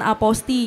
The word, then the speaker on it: Apostille: Jadi Aposti ini sebenarnya tulisannya kalau kita eja itu APOSTILLE, apostile gitu kalau dibaca ya. Tapi cara baca yang benar itu adalah Aposti. Aposti ya Mas ya? Aposti, jadi LLE-nya itu nggak dibaca, hilang seperti itu.